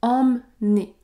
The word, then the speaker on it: emmener: contient une voyelle nasale ce mot se prononce emené ce mot contient bien une voyelle nasale généralement tous les mots qui débutent par e M m contiennent la voyelle nasale en en comme emmener emménnager